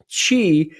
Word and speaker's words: Qi: a restoration number one is nurturing the Chi Chi is spelt Qi and she is the vital energy